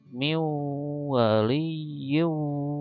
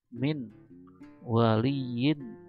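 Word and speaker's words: من ولي: Maka bacanya seperti contoh sebelumnya, seperti ini: miu waliyyu wala nasir, gitu ya. Jadi bukan dibacanya min waliyin wala nasir, bukan, akan tetapi diidgham dan gunakan miu waliyyu wala nasir, gitu ya.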